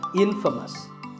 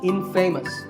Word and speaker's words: infamous: you might just become infamous this word is the opposite of famous and it means famous for something bad but it's not pronounced in famous it's pronounced infamous alright I hope you